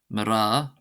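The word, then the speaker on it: mná: We have mara, ra, mara, mara, mara, mara, mara, meaning women, and this is pronounced as if it were spelled MRA.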